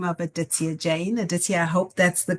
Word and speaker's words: Aditya Jain: Well, today I'm delighted to have a fantastic, inspiring guest on the podcast by the name of Aditia Jane. Aditia, I hope that's the correct pronunciation of your name.